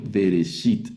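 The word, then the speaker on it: בראשית: Por eso esta palabra la leo vereshit.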